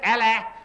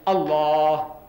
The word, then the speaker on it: Allah: You can spell it as A-L-A-H, Allah, but don't say Allah, say Allah. Try, say Allah. Don't say Allah, it's not Allah, it's Allah.